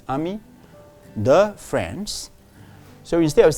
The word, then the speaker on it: amis: First, take note, you don't pronounce the S, amis.